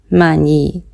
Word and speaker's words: Man-yi: Mani. This is how Thai people pronounce the Mani.